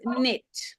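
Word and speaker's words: knit: this word okay so dorine says the word is read as nit which means that the sound of K is not there am I right Loren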